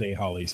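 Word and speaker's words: AHollies: I would go with A Hollies, yeah. A Hollies. All right, so there's two L's, so it is going to be pronounced Holly.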